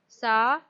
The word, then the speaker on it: साहित्य: Again children, this half letter came, so that half letter join only will pronounce like half. Then which letter it is joined to, that we will read as fully. Sahitya, sahitya.